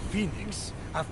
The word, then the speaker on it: Fenyx: top of the turtle looks kind of nice Phoenix broadly best best characters thing with your voice